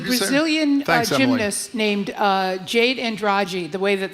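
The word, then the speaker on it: Andrade: Yeah, there's a Brazilian gymnast named uh Jade Andragi. The way that that's the Brazilian pronunciation, we would say Andre here.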